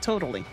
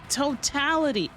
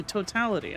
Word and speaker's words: totality: That's not totally totality. Hold up. How do you say this? Uh cuz that's not totally totality. Totality. Oh, totality. Okay.